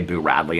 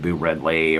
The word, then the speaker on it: Boo Radley: I love when people spell it B-E-A-U, because my dad and my stepmom had a dog named Bo, and so it kind of cracks me up a little bit, because B-E-A-U is Bo, and Boo is Boo, like B-O-O, like a ghost says Boo.